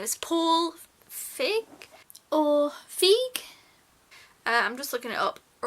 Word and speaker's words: Feig: So the director of this film, I'm going to have to look up his name, is Paul Feig?